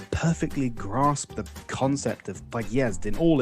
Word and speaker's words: подъезд: I learned to put the stress on the second syllable and to pronounce the O more like an A.